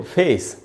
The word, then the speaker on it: face: जैसे हम बोलते हैं चेहरे को फेस, FACE, तो ए नहीं होगा दोस्तों उच्चारण, ये होता है ए, FACE, फेस करके बोलना चाहिए। फेस, डेट, बेबी, इस प्रकार से उच्चारण है।